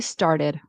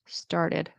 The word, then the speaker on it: started: to sound more American, I would pronounce this T as a D, as a flap T. I think I heard started. I would say started started started right du du like a d sound a fast d.